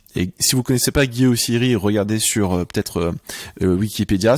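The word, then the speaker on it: Guy Oseary: Et si vous connaissez pas Guy Ossiri, regardez sur Wikipédia. Ça s'écrit O-S-E-A-R-Y. Et Guy, c'est Guy, son prénom comme Guy en français.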